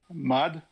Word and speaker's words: Maude: Maude is French. Mud, right? My mud. You just said Maude 3 different ways.